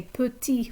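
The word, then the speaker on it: petits: a group of males we'll say puti with an s on the end but we don't change the pronunciation just the spelling extraverti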